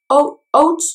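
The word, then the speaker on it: haute: Okay, so they have their oat chocolate eyes for $10. I'm pronouncing it as oat because it's spelled H-A-U-T-E.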